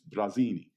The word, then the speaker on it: Brasini: BR ACI and I which is funny because of course that's the way you pronounce it in Italian it's Brezina but it's just funny